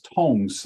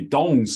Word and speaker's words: Dong: And she left us a legacy of her two books, Master Tung's Acupuncture, which is strangely spelled as Tung's Acupuncture, but it should be Dong's Acupuncture, D-O-N-G, if you're using pinyin, or if you're using